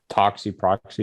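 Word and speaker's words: Toxiproxy: on um uh is it tox yeah toxic proxy is that how you say it okay yes um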